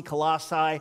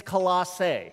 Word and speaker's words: Colossae: now i know there's different ways to pronounce in colossae colossi it's colossae okay colosse all right to the